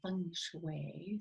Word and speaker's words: feng shui: I've heard you know if you say it correctly Fung Shui sounds a little bit naughty it's a eastern philosophy